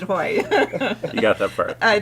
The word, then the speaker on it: Haughey: Yeah, the last name was, remember to pronounce it Haughey.